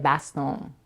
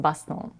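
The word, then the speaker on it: Bastón: and businesswoman Eva Longoria Baston. I'm not sure if I'm pronouncing her married last name correctly, but I think it's French and it's pronounced Baston.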